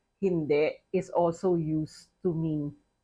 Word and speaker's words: hindi: So you say hindi puede. Now, 2 points on pronunciation.